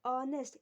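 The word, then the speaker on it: honest: तो ऑनेस्ट, यच अगर हम बोलेंगे तो एच क्या है? साइलेंट है, इसीलिए साइलेंट होने के बाद ये ओ है ना, तो ऑनेस्ट मैन कहलाएगा।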